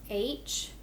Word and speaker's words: her: Let's write the word H-E-R. Her. H-er. Now, this is a bossy R, and that bossy R takes over, so it's hard to hear, but this is a short E sound.